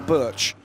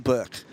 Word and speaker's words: Birch: And the correct pronunciation of the surname Birch is Berg in Danish, but it's Birch in English.